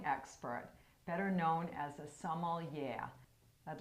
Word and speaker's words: sommelier: So, sommelier, did I pronounce that correctly? You did, yep, absolutely.